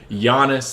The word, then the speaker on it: Giannis: Apparently, it's a hard E sound at the end of his name. Giannis, It's really? not Giannis, it's Giannis. Oh, I didn't know I that. asked him how to actually pronounce his name, and he's like, "Yeah, don't worry, everybody pronounces it wrong." So now I'm trying to, and it's Correct not, yourself. and it's also a soft O. It's not Jonas.